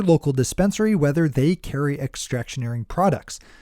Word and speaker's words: extractioneering: dispensary whether they carry extractioneering products that's extractioneering decom which is spelled like engineering but with the word extraction good morning marijuana Nation